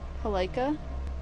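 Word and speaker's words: Palkia: Is it going to be palea?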